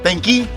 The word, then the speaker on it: tenki: tenki.